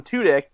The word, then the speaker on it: Tudyk: Tudyk.